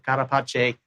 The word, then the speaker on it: carapace: Uh and yes, the Italian pronunciation and even potentially Italian interpretation of the possible Latin meanings. We did think about that with Karapache.